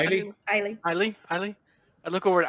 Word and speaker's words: Aieli: I'll look over at is it? How do you say your name? How do Aieli? you Eileen.